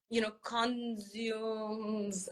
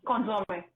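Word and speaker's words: consommé: She's made reductions and sauces, vinegars, and consumes. I don't know how you pronounce it. Consomme, yeah.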